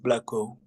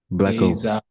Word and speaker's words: Blacko: The pronunciation for my name is just Blacko. Blacko.